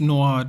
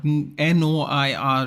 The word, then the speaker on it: noir: Oh, so it's not that it's pronounced Noir, Noir, dude. It's a French word.